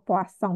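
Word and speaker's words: Poisson: baru yaitu tentang distribusi poasong ya namanya distribusi Poison tulisannya atau poasong bacanya dan juga serta menghitung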